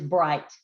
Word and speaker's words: bright: read you are correct the word is bright what's that trigraph i-g-h and the g-h is silent in row 3 circle